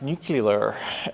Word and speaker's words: nuclear: And just for the record, it's pronounced nuclear.